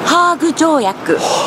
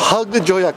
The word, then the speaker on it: ハーグ: 2014 the heg convention which in Japanese is pronounced hugak hug joak which is funny cuz hug sounds like oh my God I'm going to get